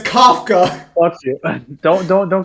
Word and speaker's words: Kafka: a bow and arrow it says k-a-f it's Kafka watch it don't don't correct me about this